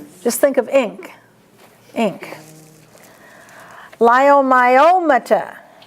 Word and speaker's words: leiomyomata: Leiomyomata. Leiomyomata. And you might just cross that E out. You don't say it. Cross it out.